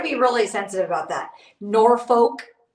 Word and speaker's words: Norfolk: really sensitive about that Norfolk is not Norfolk Virginia it's norfol norfol Virginia so anyway Louisville is